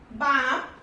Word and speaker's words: balm: So L is silent when it is used after A, O and U. Okay, example: calf, half, balm, should, could, would and for.